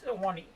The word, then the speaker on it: Ahwahnee: Even if you don't stay at the classic Awani Hotel, I'm not mispronouncing that. It's Ahwahnee. Ahwahnee. Ahwahnee.